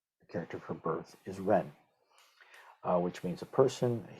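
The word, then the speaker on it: 人: So since this is the radical form of this character, they both have the same pinyin pronunciation, which is Ren.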